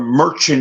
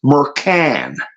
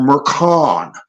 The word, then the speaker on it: Merchan: filed with judge mascara I called him Merchant in the past but it's pronounced meran or or Maran K KH Ka hn is a sound of I've been here pronounce Maran remember Captain Kirk going